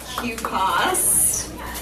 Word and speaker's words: QPAS: Thanks so much for being here tonight to get the first take on QPAS. That's how you pronounce it.